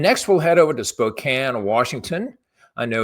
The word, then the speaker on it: Spokane: And next, we'll head over to Spokane, Washington. I know it's it's spelled Spokane, but we pronounce it Spokane.